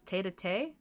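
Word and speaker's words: tête-à-tête: I'm glad we could have this little, how do I pronounce this? Tete-a-tete?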